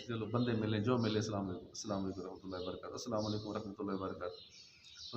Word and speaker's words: السلام علیکم: ہوتی ہے۔ سلام اور جواب سلام کا درست تلفظ بھی یاد ہونا چاہیے. پہلے میں کہتا ہوں پھر آپ سن کر دہرائیے. السلام علیکم.